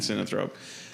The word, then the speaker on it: synanthrope: And synanthrope.